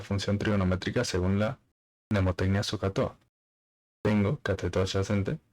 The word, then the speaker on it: SOHCAHTOA: La H, como es muda, no se dice, por eso SOHCAHTOA.